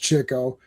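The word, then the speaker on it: Chico: uh Grouch show and Cho and it is pronounced Cho.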